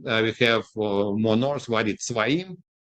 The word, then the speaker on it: Tzvaim: And then we have more north, Wadi Tzvaim. In English, it's spelled Zvaim because it's not Sadi letter.